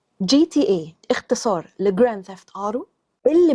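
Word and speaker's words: GTA: قوي قوي قوي قوي بتنطقها جاتا نطقها السليم هو جي تي اي اختصار لجران ثفت ارو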